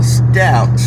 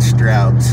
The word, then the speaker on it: Stouts: see out there okay megan just informed me that i mispronounced the name of the gas station so megan please let us know what it is stouts okay so stouts not strouds crowds is a restaurant